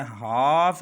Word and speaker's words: half: अगर किसी लफ्ज़ में MFKD से पहले एल आता है तो एल हमेशा साइलेंट रह जाता है। तवज्जो कीजिए, काम है यहाँ पर और इसी तरह शाम है, हाफ है, HALF हाफ, यहाँ पर L से पहले